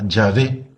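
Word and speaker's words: Yahvé: no sabían bien el hebreo leyeron la palabra llave como se hay que pronunciar la en hebreo la leyeron con unas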